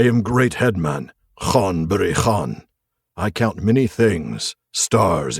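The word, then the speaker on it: Ghân-buri-Ghân: It is Khan Buri Khan.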